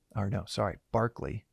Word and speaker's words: Berkeley: Although uh George George Berkeley or no sorry Barkley even though it's spelled Berkeley like the city Berkeley uh it's pronounced Barkley.